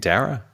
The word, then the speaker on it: Darragh: You would have got your money back because Old Storm, how do you pronounce it? Darragh? Dara? Okay. I think Dara. No, you don't pronounce the GH at the end? I don't think so.